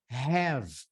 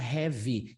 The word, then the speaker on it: have: Essa daqui, a próxima palavra, have. A gente não pode falar heavy, especialmente porque heavy significa outra coisa, significa pesado.